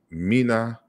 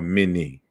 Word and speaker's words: Menes: found in Manetho, but in Herodotus, it's pronounced mina or mini. But then that wouldn't, it would show the trivialness of the critique itself, because everyone in the academic world understands that you can say mina, mini, or menes, or men.